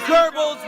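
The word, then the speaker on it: Goebbels: Like there's something to be said about him saying it in a way that's closer to the German pronunciation.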